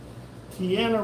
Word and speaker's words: Tiana: Tiana rhymes with Deanna.